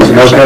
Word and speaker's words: Sunoco: Sunoco, you mean? Sunoco, there you go, thank you, it is late.